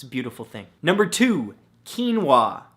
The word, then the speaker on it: quinoa: beautiful thing number two quinoa spelled ke en wuah no that's not how it's